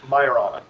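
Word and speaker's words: Majorana: The way we pronounce it is myana. Myana. Like more of an H sound or a Y sound on a Y sound.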